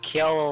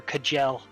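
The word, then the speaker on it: Kjelle: I like Kiel a lot because you don't hear her name said, and it's spelt with like the Nordic J.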